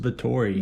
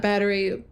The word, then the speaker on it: Bathory: It's pronounced Bathory. Bathory, not Bathory, not Battery. Bathory. Bathory.